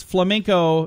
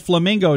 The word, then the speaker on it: flamenco: A Wheel of Fortune contestant missed out on $7,000 last week and a trip to Europe because he mispronounced the phrase flamenco dancers. He said flamingo dancers.